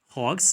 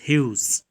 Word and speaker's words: Hughes: ted hawks actually it we can read it hogs but the actual pronunciation is hughes we can see him